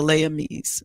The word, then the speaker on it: Les Amis: amis but they called it was spelled l-e-s but they pronounced it the layami's whatever um and the